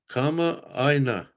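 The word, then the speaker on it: kamaʻāina: Kama Aina. Is that how you say it? Oh, okay. Yep. Kama Aina.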